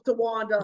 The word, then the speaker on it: Towanda: He gave you 3 syllables, Towanda.